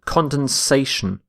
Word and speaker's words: condensation: a little bit cond condensation condensation so you need to add an a instead of the E so notice this this shift in stress from condense to condensation our next word is